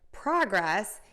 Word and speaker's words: progress: So we have the word progress, and progress is the noun, and we're going to stress the word progress, the progress. We're going to flip that,